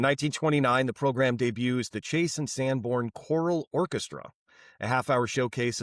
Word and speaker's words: Chase and Sanborn: Is it Chase and Sanborn or is it Chase Sandborn? Chase and Sandborn Coffee. I have been saying it wrong this entire time. My apologies. at the Chase Sandborn like a like a go on. Yeah, there's an and in there I think.